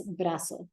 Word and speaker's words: brazo: brazo because remember that your z's will not be pronounced like a buzzy sound though we do Z so it needs to sound like an S brazo El brazo and know